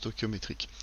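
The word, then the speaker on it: stœchiométrique: coefficient ce tokyo métriques ainsi s'écrit giteau et chiots mes tricks mais ça se prononce tokyo métriques ceux ci sont obtenus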